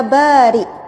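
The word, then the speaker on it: بارئ: Asmaul Husna ya Bari saya selalu sebut dengan sebutan yang tepat ya Bari yaitu Hamzah ia Hamzah bukan Kav Bahkan dalam banyak ceramah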